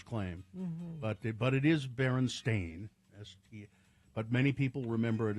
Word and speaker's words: Berenstain: For instance, the Berenstain Bears book being spelled and pronounced Stein, or not Stain, as the publishers claim. Mm-hmm. But it is Berenstain, but many people remember it as Steen or Stein.